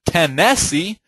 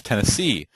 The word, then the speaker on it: Tennessee: the third is stressed Tennessee it's not Tennesse it's Tennessee New Orleans then you